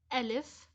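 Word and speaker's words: ألف: Let's start with the first letter, Alif. Alif is pronounced in a word as a. So Alif, a.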